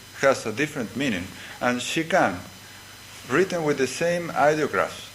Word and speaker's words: shikan: a different meaning and she can written with the same ideographs that means retaining the same meanings when it is pronounced she can it means just or